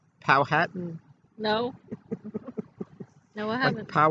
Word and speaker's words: Powhatan: i met chief powhatan and he said it's pronounced powhatan but everyone else like you said with how i everyone else pronounce it powertan which is wrong and i said pow hat